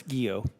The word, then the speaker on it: Guillot: How do you pronounce that? Chairman, it's Guillot.